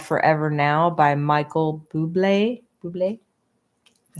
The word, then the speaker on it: Bublé: Bublé?